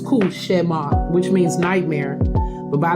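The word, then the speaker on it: cauchemar: now let's be clear it is a French word and it's pronounced kushar which means nightmare but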